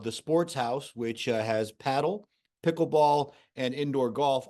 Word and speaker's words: padel: Surge and paddle or padel as some people like to pronounce it based on its spelling but uh it is pronounced paddle from what he told